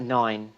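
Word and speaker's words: nain: Gramp nan it's a nine in it's how it's pronounced just like the number nine in in Welsh means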